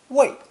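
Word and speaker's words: 卫: acting as a guard this character is pronounced fourth tone wait wait and as a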